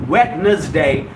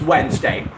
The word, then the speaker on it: Wednesday: is quiescent endless spelling d is silent in the spelling unlike Howard solomonton Wednesday well it's not wetness day it's Wednesday hello hello hello all